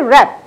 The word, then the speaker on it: wrap: Third one, wrap. We say rap. So you will hear R-A-P or R-A-P is sound, but not the W. So W is the silent letter in that word.